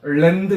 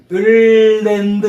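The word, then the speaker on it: land: 그냥 랜드 이러면 안 돼요. 자 발음. 거의 을랜드 이런 느낌을 해야 돼요.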